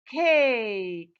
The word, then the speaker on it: cake: You see, I have long vowel A and silent E at the end. That's it. This is the CVC, final E pattern. The E at the end is silent and the preceding vowel letter takes the long sound.